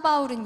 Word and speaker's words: 바울: 되는 이름을 가지고 있었는데 바로 히브리 씩 발음으로 하게 되면 사울 그리고 그리스 식으로 발음을 하게 되면 바울 이라는 이름인데요 그의 이름은 어 4